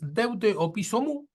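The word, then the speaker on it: δεῦτε ὀπίσω μου: escribe Así que es deute o piso mu se pronuncia así deute o pisom en Marcos 833 es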